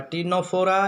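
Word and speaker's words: Ctenophora: ठीक है, कौन सा, पहला पाइलम पोरीफेरा, दूसरा सिलेंट्रेटा या निडेरिया, तीसरा टीनोफोरा। ये सी साइलेंट है, इसमें भी सी साइलेंट है।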